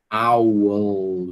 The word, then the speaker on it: owl: E tem que pronunciar o lã, certo? Owl.